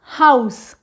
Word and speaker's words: house: out out pouch house in this word this letter e the sound of e is a and this letter this letter sound is silent we do not speak this letter sound so the word is house house we have to write this letter but the sound is silent is it is